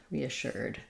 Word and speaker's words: reassured: uh assured um so the Ed just says D so it sounds like re uh shirt reassured some people will use more reassured a little bit of an ooh sound here um reassured I reassured her um because we can say sure or sure um but I use a an ER reassured I was reassured she